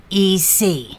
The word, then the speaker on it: Michalec: The pronunciation is deceiving. Joel. Okay. Michalec. That is correct.